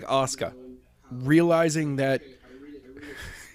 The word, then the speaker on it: Asuka: about pronunciation and like Asuka. Realizing that I read it this. like the U is nearly silent. Yeah. It's, yeah. Okay. Yeah. Asuka. Azkua?